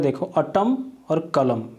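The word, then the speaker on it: autumn: अटम में क्या होता है, देखो AUTU, यहाँ पे एक N साइलेंट होता है। N तो लगता है लेकिन वो प्रोनाउंस नहीं होता, इस चीज़ को ध्यान रखना है, ठीक है। अटम, ना ही इसका प्रोनाउंसिएशन अटमन होता है, ठीक है।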